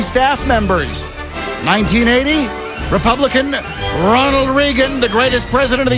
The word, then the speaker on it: Reagan: It's Reagan. Ronald Reagan, my Ronald friend. Reagan. Earl pronunciation.